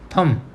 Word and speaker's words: thumb: In this word we call thumb. Okay, यहाँ भी हम comb के जैसे we don't properly pronounce the बी.